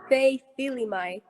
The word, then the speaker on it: Feifilimai: How you say it, Fei? it's Feifilimai.